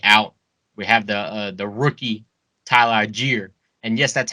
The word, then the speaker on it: Tyler Allgeier: We have the rookie Tyler Allgeier, and yes, that's how you say it, motherfuckers.